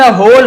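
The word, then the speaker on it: whole: एंड द होल heard होल यानी पूरा। W silent होता है।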